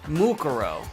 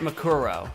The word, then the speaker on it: Mukuro: Mukuro, not Makuro. Mukuro.